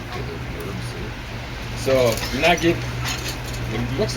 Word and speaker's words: Naguib: think that's just so the U is put in there so we pronounce the G the way the Egyptians pronounce what most Arabs pronounce as a J. So, Najib, which means something like